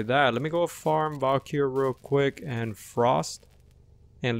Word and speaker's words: Valkyr: Valkyrie, yes, I said it right.